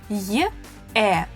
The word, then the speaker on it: е: Я, these are 2 sounds y, a, ya, ю, y, u, you, е, y, e, ye.